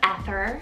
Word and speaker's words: Ether: next up a little vintage is the name ether spelled e-t-h-e-r this one's derived from the persian ester meaning star then for a great sibling name to ether i have erla spell and this one also